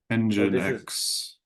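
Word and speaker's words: nginx: I never know how to pronounce this but ingress controller engine x engine x. Thank you. I said it wrong for a long time too.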